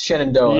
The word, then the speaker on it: Shenandoah: I lived in Virginia for a while. It's Shenandoah.